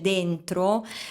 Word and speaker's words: dentro: like when he says "Dentro" and pronounces this "D" a bit harshly, as if it were a "T".